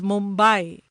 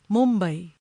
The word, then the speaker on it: Mumbai: International television channels refer to the city as Mumbai, when it should be pronounced in its authentic Marathi way, Mumbai.